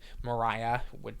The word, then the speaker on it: Maria: film she plays um Mariah it's spelled Maria but it's pronounced Mariah um and she's an